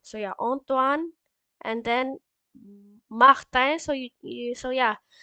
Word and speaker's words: Martin: And then Martin. So yeah, like in French, we don't pronounce it like in English, like Mar. We say Mar. So Martin. So I-N. So yeah, Martin. So A-N, it became I-N.